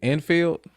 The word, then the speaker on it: Enfield: Now, is it Enfield? Hmm. That's how you say it.